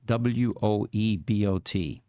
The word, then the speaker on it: Woebot: Woebot, Woebot, as in woe is me, and then bot.